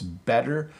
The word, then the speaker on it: better: The challenge comes in that your tongue hits the top of your mouth, but it doesn't stay there. So it's better water. If you want a little trick, you can just pronounce it like a D and people won't notice. So you can say better and water and people won't mind. They'll think it sounds normal, but we certainly don't